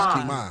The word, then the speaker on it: Keymah: She said it's Keymah. Yeah, Keymah. please remember So we know how to say it properly.